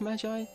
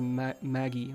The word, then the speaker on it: magi: I think it's pronounced magi? It's not Maggie, right? It has to be magi.